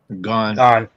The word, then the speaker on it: Gane: Is that how you say his name? Gone. Yeah.